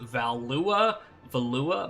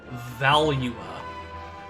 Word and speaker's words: Valua: throughout the years, so I pronounced it Valua, but apparently the proper pronunciation is Valua.